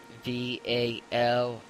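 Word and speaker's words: Valin: It's V-A-L-I-N. Phonetically, it's Vallin, and Valen, or Valen, I think it's Valen, is a male name.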